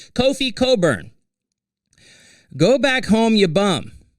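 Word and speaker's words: Kofi Cockburn: Kofi Coburn, and I have trouble saying his name because when I look at it phonetically, it's not what it says to me, but that's okay. Kofi Coburn.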